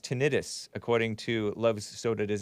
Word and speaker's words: tinnitus: Love soda does not like juice says it is pronounced tinnitus, not tinnitus. Itis means inflammation, which has nothing to do with ringing of the ear syndrome.